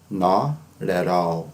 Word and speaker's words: not at all: spoken English, inglês falado, geralmente a pronúncia é diferente. Fica assim, not at all, not at all, not at all. Tá? Parece que tem um som de R, né?